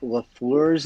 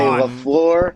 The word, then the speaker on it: LaFleur: He gets so pissed when people pronounce Matt LaFleur's name wrong. People say LaFleur. Yeah. It's actually LaFleur.